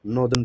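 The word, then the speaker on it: northern: है this is called नॉर्दर्न plain या फिर नदर्न प्लेन जैसे भी आप इसे प्रोनाउंस करना चाहे ठीक है अब यहां पर मेजरली कुछ रिवर्स के डिपोजिशन की वजह से ये बनता है।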